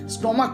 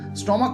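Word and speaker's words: stomach: আমরা ইএস দিচ্ছি, কিন্তু যদি সিএইচ এর উচ্চারণ কখনো কয়ের মতো পাই তখন কিন্তু আমরা শুধুমাত্র এস দেব। এই জায়গাগুলো কিন্তু তোমাদের মনে রাখতে হবে। যেমন ধরুন এক্সাম্পল নিলে স্টমাক কথাটা রয়েছে, দেখো স্টমাক কথাটা কি সিএইচ দিয়ে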